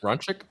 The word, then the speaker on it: Rancic: the Colorado transfer Sebastian Rancic I think is how you say his last name. Ranchic Ranchic? Ranchic. He's Slovakian.